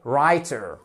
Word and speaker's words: writer: un écrivain donc écrire c'est to write on ne prononce pas le W on fait la même chose pour la profession donc un écrivain ou évidemment bien évidemment une écrivaine et writer alr et on dit